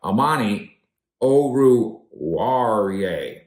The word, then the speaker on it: Oruwariye: By the way, when we talk about the takeaway stuff, Amani Oruwariye, that's how I require you to pronounce it from now on. You may never play again. But for now, Amani Oruwariye, he gets the interception, and credit to the